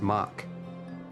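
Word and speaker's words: Mhach: of match Mark probably much I think is how you say it was a uh three raid series or rather a storyline featuring three 24-person raid dungeons it's pronounced mock okay Monk very well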